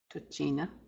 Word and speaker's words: tochina: Again, when you have words like this, tochina, tochina, just as we saw in machine, tochina, the long I is sounded where the I is, tochina, tochina.